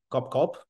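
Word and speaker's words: Cốc Cốc: Okay, up till last month, I was managing the local team in Vietnamese product, Cop Cop. Yeah, it's pronounced like Cop Cop in Vietnamese.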